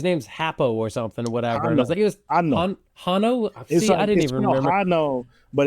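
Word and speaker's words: Hanno: was like all right there was no h pronounced in the film but okay yeah right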